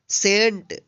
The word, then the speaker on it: scent: SCENT, सेंट। सेंट means होता है सुगंध या इत्र। यहाँ पे भी देखिए SC एक साथ है तो इस सी का उच्चारण नहीं हुआ है।